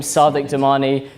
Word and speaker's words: Sadiq Damani: intro so yeah I'm Sadiq domani yes my name is the same as the Mayor of London yes I pronounced it differently and yes it was